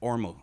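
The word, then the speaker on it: Ormeau: which we lived off called the ormo road but the ormo road was o-r-m-e-a-u and the guy that ran the place was like ormo and they were like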